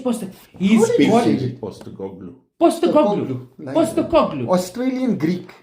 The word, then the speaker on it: Postecoglou: Ange Postecoglou. Enge Poster. He's Big got David Postecoglou. Postecoglou. Nice. Postecoglou. Australian Greek. Postecoglou. Postecogloulicious. Postecoglou.